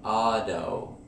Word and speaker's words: auto: For example, in photo or auto, notice the D sound, auto.